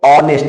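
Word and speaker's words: honest: उसी तरह से देखो एच के बाद फिर ओ आ गया तो एच साइलेंट हो जाएगा, इसको ऑनेस्ट बोलेंगे।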